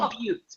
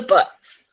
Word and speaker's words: buttes: They're called the buttes, but people always call them the butts Yeah. because they pronounce them incorrectly.